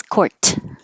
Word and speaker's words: court: So, this little mark here is to remind you to hold your tongue in the T position and don't release court.